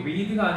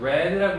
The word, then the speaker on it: read: 라는 제안 표현이고 아까 얘기했듯이 거기 read가 아니고 read라고 읽으셔야 되고 과거형입니다. 읽었다.